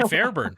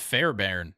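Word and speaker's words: Fairbairn: yeah same with Kai Fairburn Kai Fairburn kicked like 350 yarders in a row Wild yeah also it's it's pronounced Fair Baron and I've just never cared to say it that way sounds like you're illiterate Fair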